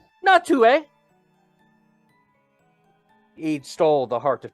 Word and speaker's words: Natu: People might not know this, but it's actually pronounced Natue.